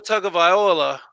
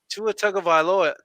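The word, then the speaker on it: Tagovailoa: tua tug of viola oh i said it right to attack a villa nope damn i should have stopped there first time i got it right second time shouldn't have even happened dolphins are scary kansas city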